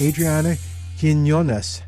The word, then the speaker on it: Adriana Quinones: Our guest today is from the Arboretum San Antonio, and her name is Adriana Quinones. How did I do on the pronunciation, Adriana?